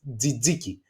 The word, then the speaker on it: tzatziki: So it's tzatziki.